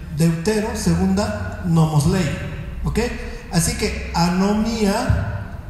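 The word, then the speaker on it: ἀνομία: El griego koiné tiene una palabra que se pronuncia así, anomía.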